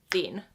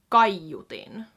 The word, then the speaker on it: kaiutin: Hius is just like one syllable like this, whereas it's kaiutin. Gaiutin, 3 syllables. So it kind of breaks up a little bit on its own. Gaiutin, gaiutin.